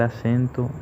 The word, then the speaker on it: acento: O en acento, la sílaba tónica recae en la sílaba sen, porque es donde más fuerza o intensidad tiene.